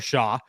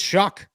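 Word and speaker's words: Shough: Tyler shuck who is not spelled like shuck at all it is spelled like sha everybody talks about him as though his name is Tyler Shaw or show or whatever it is it's shuck it's Tyler shuck guy who played at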